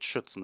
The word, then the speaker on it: Schützen: And I'm also pretty proud of you that you told it Schützen and not Stützen.